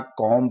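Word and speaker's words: comb: के बाद आया बी यदि एम के जस्ट बाद में बी आता है तो ब साइलेंट हो जाता है जैसे सीओ एम बी यहां कोम ने पढ़ कर के यहां जो एम के बाद में तुरंत एम के तुरंत बाद में ब आ रहा है तो हम इस भी को दोस्तों साइलेंट कर देंगे और सीओ एम का ही उच्चारण निकालेंगे कॉम पढ़ेंगे इसी तरह बी ओ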